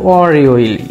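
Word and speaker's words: 월요일: তাহলে উচ্চারণটা হবে অর ইয়োইল, ইয়োলটা উপরে গিয়ে ইয় হয়ে যাবে অর ইয়োইল, এবং মিলে উচ্চারণ হবে এখানে অর ইয়োইল।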